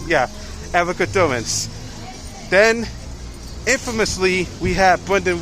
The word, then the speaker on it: Erica Durance: Yeah, Erica Durance.